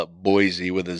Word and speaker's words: Boise: called Meridian which is just right next to boisey then now they're kind of disconnected but there